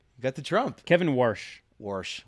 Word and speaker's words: Warsh: Warsh. Well, nailed it. Yeah. One syllable, nailed it.